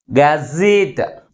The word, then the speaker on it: gazette: For example gazette, gazette. How many syllables in this word? 2 syllables. But which syllable is pronounced with a greater force? Last syllable is pronounced with greater force comparing with another one.